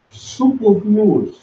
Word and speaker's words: superfluous: Superfluous. That's superfluous. Super. Superfluous. Yeah. You see in the whole section of the accent. Super. That's one. Super. Fluous. The accent is on the first.